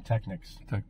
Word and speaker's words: Technics: say techniques yeah and I called them Technics because it's spelled Technic Technic yeah but people call them technices it's crazy they cost